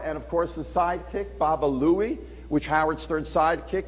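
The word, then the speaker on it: Baba Looey: Quick Draw mcra and of course the sidekick Baba Louie which Howard's third sidekick mispronounced as Baba Buie and that is why you've got the name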